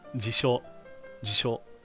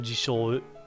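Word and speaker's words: 辞書: Jisho. And it's not jisho, it's jisho.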